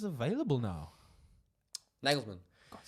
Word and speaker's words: Nagelsmann: Nagelsmann.